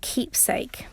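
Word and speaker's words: Qeepsake: And then there's another app or website called Keepsake, and that's spelled with a Q. So it's Queepsake.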